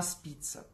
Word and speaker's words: спица: Естественно, для того, чтобы крутить бумагу, нам нужна спица. Ага, на последнее, да, ударение.